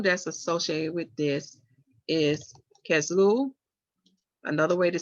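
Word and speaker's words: Kislev: associated with this is kazlu another way to spell it is k-i-s-l look at my little note here i got can you pronounce that again it's cass lou c a s l e u now get a little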